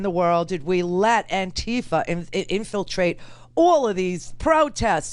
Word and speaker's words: Antifa: It is Antifa, as in anti-fascist. That is what it stands for, anti-fascist. Now, what is and who is and how in the world did we let Antifa infiltrate all of these